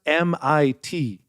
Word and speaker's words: MIT: It's pronounced MIT. That's what he said. You were, by the way, when he first got in there, he called it Mitt over and over.